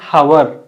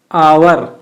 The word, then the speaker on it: hour: You should not say hour. It is hour or hour. దీన్ని మనం అవర్ లేదా ఆర్ గా ప్రొనౌన్స్ చేయాలండి. ఇसे हम hour कहना चाहिए, not hour. H is silent.